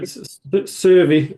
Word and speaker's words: Syrvi: Have I said that right, Servia? What does Servia stand for, first of all, actually? So Servy is how it's pronounced, or how we pronounce it anyhow.